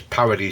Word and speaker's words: parity: I think it's something to do with the strange way that Americans say the word parity. That's P-A-R-I-T-Y. It's a mathematical term. It's not parody, but the Americans kind of pronounce that spelling as parody, so people get confused with what the word is, but it is parity, P-A-R-I-T-Y.